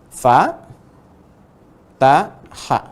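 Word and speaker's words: فَتَحَ: Tapi pendek pun, ingat, pendek pun tetap dibacanya mesti seirama. Jangan sampai panjang yang ini beda dengan yang ini, beda dengan yang ini. Harus sama.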